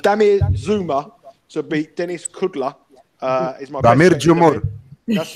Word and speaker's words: Kudla: It's not kudos. It's Kudla.